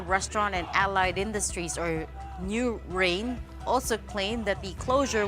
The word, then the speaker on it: NUWHRAIN: and Allied Industries or new rain good evening sir new Rain by pronunciation new n u w h r a i n good evening good evening